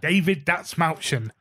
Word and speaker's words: David Dasmalchian: David Dasmalchian. Yes, that one. No, but I really want to watch it. I fucking love David Dasmalchian.